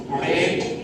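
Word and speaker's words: wrote: ডাব্লিউ নেই কিন্তু, রোড। ডাব্লিউ উচ্চারণ হবে না, রোড।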